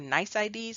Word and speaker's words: NYC ID: to learn more about NYC IDs or nice IDs as we pronounce them visit nyc.gov passport after